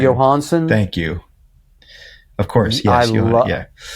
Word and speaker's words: Jóhannsson: Jóhannsson.